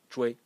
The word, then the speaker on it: 隹: And again, so you see that it's clear that zhui is giving the sound to all of these characters, because we have wei, sui, shei, dui, tui, right? And the title of character is pronounced zhui.